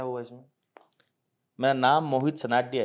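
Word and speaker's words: Sanadhya: मेरा नाम मोहित सनाडिया है, MOHITSANADHY, ये मेरी पूरी स्पेलिंग है सरनेम की।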